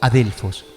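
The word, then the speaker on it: ἀδελφός: Biblia las palabras Hermano se pronuncia como adelfos y para hermana adelf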